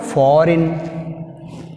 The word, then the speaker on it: foreign: Next word, foreign. Foreign. Which is silent? G is silent.